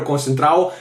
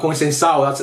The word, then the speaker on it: Conceição: I thought when Conceição came in, or Concentrao, I thought he actually looked Conceição. That's how you pronounce it.